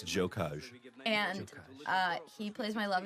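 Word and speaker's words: Gjokaj: That is Enver, whose last name I cannot pronounce. Barbara. We think it's Jokaj.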